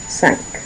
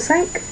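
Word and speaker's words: cinq: So next we have five sank. Sank. Let you know the boat sank. Sank. So sank. There's one syllable once again.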